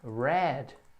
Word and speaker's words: read: grid mas o passado é head mas o pronúncia da cor vermelha red bom então se você vai dizer o li